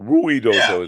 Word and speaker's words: Ruidoso: I I didn't go to Ridoso, but probably because when you look at the way it's spelled, I wouldn't have pronounced it like that. Yeah. Uh Ruid doso. Ruidoso is how it's spelled, right?